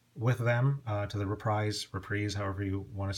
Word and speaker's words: Reprise: subsidiary by the way in Stan corin's book he insists that it should be pronounced reprise because Frank SRA started the label and wanted it to be like reprisal because he was trying to get back at Capital in Columbia his previous labels uh however I've heard